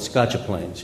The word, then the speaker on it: Scotch Plains: We had such a big Italian family, we called it Scotcha Plains. You know, that's the way we pronounce it in our household.